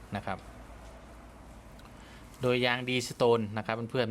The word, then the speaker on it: Deestone: นะ ครับ เพื่อน ๆ ไม่ ใช่ Restore นะ ครับ ผม ออก เสียง ผิด แต่ มัน เพื่อน ๆ D D D D E S T E N E นะ ครับ อ่าน ว่า Deestone นะ ครับ เพื่อน ๆ ก็